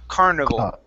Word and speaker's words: Carnival: Carnival Carnival oh almost so we don't want to roll it we don't want to roll it saying car Carnival so watch the r push it down Carnival car Carnival Carnival